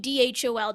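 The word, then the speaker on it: dhole: like dole really um it should be something like dhol the dh makes sense okay because um the sound is i guess aspirated is the term uh in in hindi the original language but when it comes to english um we turn into dh because it's really hard to pronounce the aspirated d and then not only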